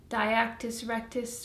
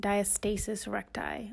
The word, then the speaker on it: diastasis recti: because I know what is that called like dye actus rectus or something like that so I looked it up and it's actually pronounced diastasis recti or that's what the internet tells me or